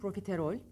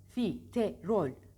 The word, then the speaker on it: profiterol: profiterol profiterol ne dedim bir kelimeyi telaffuz da zorlandığımız da hecelerini ayırın Pro Pro benimle tekrar edin profiterol Pro bakın yine kol çift